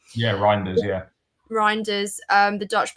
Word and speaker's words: Reijnders: title we've mentioned Reyers is that how you pronounce his name yeah reinders yeah reinders um the Dutch player and obviously